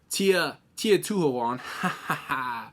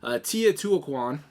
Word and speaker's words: Teotihuacan: I'm gonna butcher this because I haven't pronounced it in about 10 minutes now. Teotihuacan.